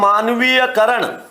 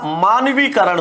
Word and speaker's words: मानवीकरण: करण बोलते हैं ना मानवीय करण अब मानवीय करण का क्या होगा मानवीकरण मानवीकरण नहीं होता मानवीकरण होता है क्या होता है मानवीकरण अब यह जो अशुद्धि है वो क्या है यहां य की जरूरत थी क्या नहीं थी फिर भी क्या आ गया यह आ गया यह की जरूरत नहीं थी फिर भी यह आ गया तो यह जो अशुद्धि हुई है यह किसके कारण हुई है यहां पर य के कारण यहां क के कारण